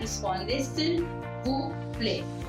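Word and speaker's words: Répondez s'il vous plaît: That's how you pronounce it, Responde s'il vous plaît, which apparently translates to reply if you please.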